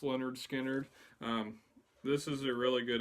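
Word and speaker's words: Lynyrd Skynyrd: First up, we got Leonard Skinner, pronounced Leonard Skinner.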